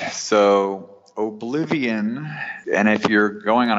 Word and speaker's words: Obliv18n: It's pronounced Obliv18n, but the logo incorporates a 1 and an 8 into the I and the O at the end of the word.